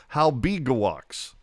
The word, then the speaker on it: Halbegewachs: And then what's really jacked up is that the NHL pronunciation guide says Halbegewachs.